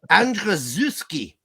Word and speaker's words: Andrzejewski: Seth Andrzejewski. That's how you say that.